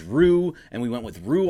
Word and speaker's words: Ryu: I've listened to Bill Plunkett came on to the Mason Ireland show and he said that it was Rue, and we went with Rue all of last year.